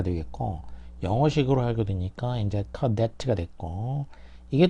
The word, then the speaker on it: cadet: 그래서 프랑스어에서는 이제 발음은 이제 까데라고 하죠. 까데가 되겠고 영어식으로 하게 되니까 이제 cadet가 됐고 이게 또 이제 스코틀랜드식으로 하면은 밑에 있는 캐디가 된 거예요.